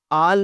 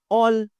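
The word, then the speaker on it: all: आल नहीं कहना, ऑल, ऑल।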